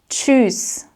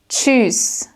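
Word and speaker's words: Tschüss: You'll note that this T s ch sound might look a little bit complicated in the beginning if you're not quite sure how to pronounce this. But this combo is actually pronounced like a ch sound, just like in the word for chips.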